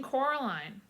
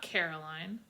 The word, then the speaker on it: Coraline: name wrong you know they kept saying coraline not caroline not caroline at all he picked up